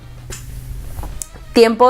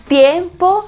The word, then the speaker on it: tiempo: a perfect example dimple tiempo is is there's a T in it but we don't pronounce we don't pronounce it like a T we pronounce it like